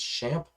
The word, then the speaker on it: XAMPP: this from beginners is is xampp or some people call uh pronounce this as shamp i'm going to say exam because i pronounce everything